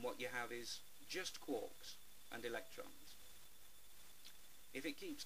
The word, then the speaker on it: quarks: they're made of quarks the correct pronunciation is quarks quarks still can't get me tongue around it that's why I call them quarks now as we run